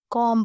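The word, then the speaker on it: comb: बी इसमें silent होगा, कॉम पढ़ा जाएगा।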